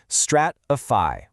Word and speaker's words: stratify: Stratifi. Notice those three distinct syllables with that final part rhyming with pi.